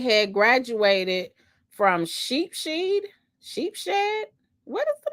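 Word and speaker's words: Sheepshead Bay: just putting the same oh sheep head Bay oh okay is that real or you guys just like having me look even crazier than what I sounded like when I try to pronounce it no sheep shed okay that's what lesle said thank you so much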